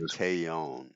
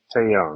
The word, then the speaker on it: Taillon: I say Taillon. Taillon.